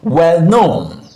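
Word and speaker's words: well-known: Since we have the stress syllable on the second word, we are going to pronounce it well known, well known, well known, stress syllable on the second word.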